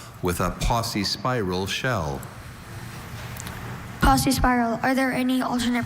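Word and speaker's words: paucispiral: Posse spiral. Are there any alternate pronunciations? Just posse spiral.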